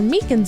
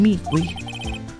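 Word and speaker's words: Meekins: Eventually, Officer Meakans at the detention center told us. That poor little doggy. Poor guy. I keep getting his name wrong and calling him Meek.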